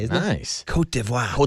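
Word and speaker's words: Côte d'Ivoire: But then somewhere along the way they went to their French pronunciation. It's kind of fun to say, isn't it? Nice. Kotivo. Kotvo.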